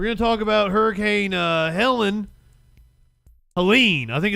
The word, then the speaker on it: Helene: We're going to talk about Hurricane Helene. I think it's Helene. I keep saying it wrong. I kept saying Helena last night.